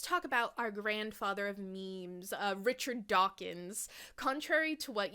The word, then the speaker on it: meme: So my meme comes from the Greek root, but Dawkins changed the spelling from M-I-M-E-M-E to just M-E-M-E. He denoted that M-E-M-E should be pronounced to rhyme with cream, which is hilarious because